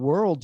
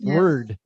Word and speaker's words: world: World, you say it really well, but sometimes I think you forget, and it gets almost word. World.